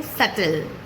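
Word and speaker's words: subtle: तो ऐसे में बी फिर से अगेन हो जाता है साइलेंट जैसे कि सल जिसे हम लिखते तो हैं सबटिल लेकिन बोलते हैं सेटल या डेट जिसे कुछ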